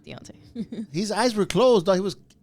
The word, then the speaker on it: Deontay: When Tyson Fury got dropped by uh by uh Dante Wilder, right? Dante. I would say it wrong though. Deontay.